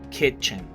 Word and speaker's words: kitchen: Practicando la I, que no es I, es E. Y la CH, que se pronuncia como ch, kitchen. Tenemos cochera, aquí practicamos la GE como orange, ¿sí?